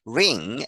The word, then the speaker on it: wring: with 이렇게 시작된다 a silent 음이라는 것이죠 W 발음되지 않는 그러한 단어이다 the dictionary publisher mariam webster describes the verb ring AS squeezing or twisting something like clothing to